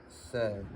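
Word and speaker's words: Ц: But this is se, T-S-E is pronounced.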